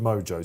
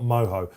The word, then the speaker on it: Mojo: we like mojo style they call it mojo star not moho when you go to south america it would be pronounced moho i think i've got